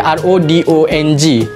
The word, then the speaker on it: rodong: Ejaan dia R-O-D-O-N-G. Rodong. Sebut dia pun rodong.